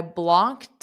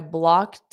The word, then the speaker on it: blocked: I blocked off. And where's the linking? So, the e d is pronounced as a soft t.